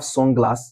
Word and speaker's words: sunglass: For example, um for compound noun, we have sunglass. Sun and glass. Sunglass. Where are we going to stress? He said stress the first. I'll be so the stress will be in sun.